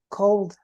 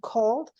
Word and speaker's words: cold: so you say Okay anytime that we have a word that finishes with o l d the pronunciation is old like for example old